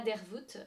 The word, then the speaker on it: Dervoet: grande étape et donc je suis Dervoet et je prononce le T parce que c'est breton mais je ne vous en voudrais pas si vous ne le prononcez pas.